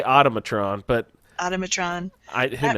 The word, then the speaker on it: automaton: yeah it looks more kind of like the atomic truant why do I always say that wrong um